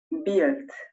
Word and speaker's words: build: Build. Build. La U casi no suena. Como pueden ver, se escribe build. Pero casi no suena al pronunciarlo.